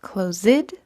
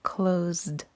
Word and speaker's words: closed: is close which becomes closed we don't want to get closed we want closed notice how the s turned into a z or z sound when you say closed